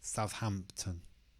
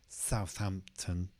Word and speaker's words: Southampton: In this case, we've got Southampton. The Hampton is the stressed part. Southampton. And again, that sound at the end, just like Brighton or Everton. Southampton.